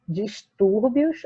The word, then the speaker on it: distúrbios: Então, vamos lá, olha, distúrbios, a gente tem aqui no tur a sílaba mais forte, e ela é paroxítona, por quê?